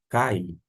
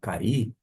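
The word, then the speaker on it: καί: Cai, uma conjunção, cai ou cair, de acordo com a pronúncia. Se tiver um certo preciosismo, pode pronunciar cair. Caso contrário, pode manter uma questão de eufonia, cai.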